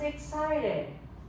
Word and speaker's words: excited: David was excited. You may say excited or excited. Excited is also acceptable. Both of them are acceptable.